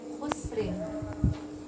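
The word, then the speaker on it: خسر: Kita mau berhenti di khusr, kira-kira bacanya tebal apa tipis? Lihat, ini sukun, sebelumnya sukun, mati sebelumnya dhammah, maka dia bacanya tebal. Jadi bacanya khusr, innal insana lafi khusr.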